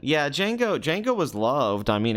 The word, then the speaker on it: Django: this films he never you know the me is silent yeah Jango Jango was loved I mean everyone loved Jango